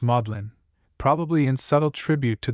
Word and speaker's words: Magdalen: the seed of learning Magdalene is pronounced modlin probably in subtle tribute